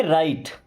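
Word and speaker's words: write: दोस्तों देखिए राइट क्या लिखा? WRIT ना। अब यहाँ पे W होगा साइलेंट, इसे क्या पढ़ेंगे? राइट।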